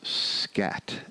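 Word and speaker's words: Skat: notice in a million years popularly known as scat s k a t nobody even calls it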